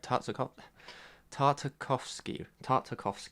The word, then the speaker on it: Tartakovsky: Alright, Tartakovsky. There you go, that's how you say it. Tartakovsky.